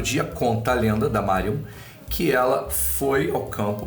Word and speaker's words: Marjun: para falar da Mario Mario se escreve marjon mas é Mario Mario foi uma mulher